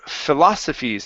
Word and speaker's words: philosophies: to uh the word philosophies instead of phaw okay it's Phil philosophies philosophies okay good so